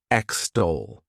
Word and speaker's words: extol: To extol, this word has 2 syllables, and the stress is on that second syllable. Extol.